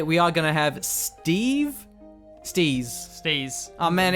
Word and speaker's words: Steez: And today, we are going to have Steez. Oh man, it's so close to being Steve, but it's not, and I find that very unsettling.